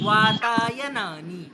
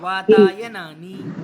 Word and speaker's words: वातायनानि: शुद्धम उच्चारणम किम? वातायनानि। क्या कहेंगे? वातायनानि। हाँ, वातायनानि, यानी वाताय कह के नानी को जोड़ देना है ना, वातायनानि।